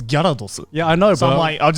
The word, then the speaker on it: Gyarados: Because in Japanese it's Gyarados.